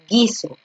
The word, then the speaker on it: guiso: A la G la acompañas con la U y ambas se convierten en una consonante. Y por ello tú no pronuncias la U, tú solamente pronuncias la